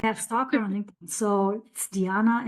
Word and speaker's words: Diana: Oh, it's Diana. It's Diana. It's the original because it comes from the Roman goddess.